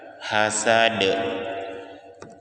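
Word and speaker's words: حسد: Ya, huruf terakhirnya huruf dal itu huruf qalqalah, maka suara kita dipantulkan, hasad.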